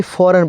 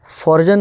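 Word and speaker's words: foreign: यहां पे लिखा है यहां पे फॉरेन पढ़ाएगा। फर्जन नहीं यहां पे फॉरेन पढ़ाएगा। ठीक है? यहां पे फॉरजन नहीं फॉरेन पढ़ाएगा। यहां पे जी साइलेंट है फॉरेन।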